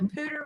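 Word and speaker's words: Poudre: else know of a pooder river i think i've been here a couple times yeah p-o-u-d-r-e it's french p-o-u d-r-e yeah the pooder river yeah anyway so we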